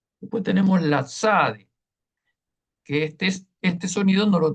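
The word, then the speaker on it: צדי: lo tenemos en español, porque es un sonido compuesto de dos sonidos, la T y la Z, como el zumbido de una abeja. Ps, ps, ps. Esta es la SADE.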